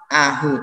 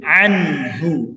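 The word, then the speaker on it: عَنْهُ: Ini ada huruf nun sukun kemudian bertemu dengan huruf ha, maka harus dibaca jelas, tidak boleh kita membacanya anhu ataupun cuma ahu, tapi anhu, jelas anhu ya.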